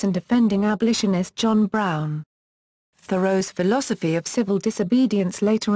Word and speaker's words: Thoreau: Name pronunciation and physical appearance Amos Bronson Alcott and Thoreau's aunt each wrote that "Thoreau" is pronounced like the word "thorough" (pronounced THUR-oh—/ˈθʌroʊ/—in General American, but more precisely THOR-oh—/ˈθɔːroʊ/—in 19th-century New England).